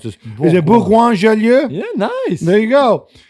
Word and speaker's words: Bourgoin-Jallieu: I can't even pronounce this. Is it Bourgoin-Jallieu?